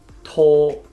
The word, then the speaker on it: 拖: to hold hands and the main difference of pronouncing the D and the T onset is to read the T sound you only make the sound after you release the tongue tall oh in slow